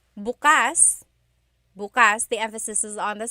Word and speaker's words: bukas: If you say bukas, the emphasis is on the second syllable. That means open. If you say bukas, emphasis is on the first syllable. that means tomorrow.